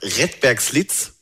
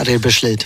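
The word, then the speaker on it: Redbergslid: So ein bisschen, du bist dann 1989 nach Rettbergslitz, habe ich das richtig ausgesprochen? Ja, Rebeschlitz.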